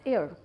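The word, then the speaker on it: heir: जिसका मतलब है वारिस हम इसको मिस प्रोनाउंस कर देते हैं कभी-कभी हम इसको हेयर बोल देते हैं this is also pronounced as एयर सो एयर हवा वी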